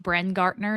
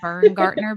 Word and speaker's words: Brengartner: And I just want everyone out there to know that Brook's last name is pronounced Bren Gartner, not Vern Gartner, because we've tried 14 times and Rachel can't say it.